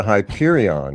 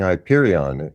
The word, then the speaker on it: Hyperion: to live next to Hyperion, and I think I'm mispronouncing Hyperion. Is it Hyperion? You are. You're adding a little flair to it. You're adding a little flair to the end.